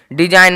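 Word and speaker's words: design: होता है शासन डी एस आई जी एन डिजाइन मतलब होता है रचना देखिए यहां पे एन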